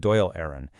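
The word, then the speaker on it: Dáil Éireann: They called it Doll Aaron, pronounced Doyle Aaron, which just means the Assembly of Ireland.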